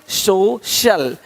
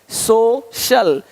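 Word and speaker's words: social: अब देखो यदि सी के आगे आई ए हो तो सी का उच्चारण श होता है। क्या होता है? श होता है। क्या लिखा हमने? सोशल सोशल सोशल तो यहां पे शल हो रहा है।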